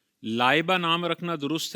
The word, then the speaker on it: Laiba: तो एक लबा की प्रोनाउंसिएशन हमजा के साथ होती है। लाबा स्पेलिंग है एल ए आई बी ए लाबा। बहुत सारी मां-बाप ने अपनी बच्चियों का नाम ला इबा रखा है।